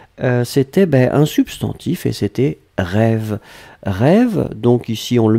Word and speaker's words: rêve: L'autre chose, c'était un substantif et c'était rêve. Rêve, donc ici on le met au pluriel, là encore avec un magnifique accent circonflexe que l'on prononce, donc on doit le garder.